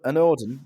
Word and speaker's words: anOrdain: and you're from what brand is it an an ordin yeah yeah that is actually how you say